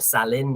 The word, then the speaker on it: Salil: The Salil Riverside, or Salin, if you're pronouncing it in Thai.